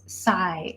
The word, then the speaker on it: scythe: Oh, okay, so the Delightful Cottage Family Adventure says sigh is how you pronounce it. Okay, so there's no TH at the end. It's just a sigh.